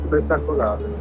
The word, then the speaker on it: Spettacolare: Spettacolare.